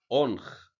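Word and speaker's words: ⲱⲛϧ: حرف الأوميجا بننطقه او مضخمة، زي ما خدنا قبل كده كلمة أنخ.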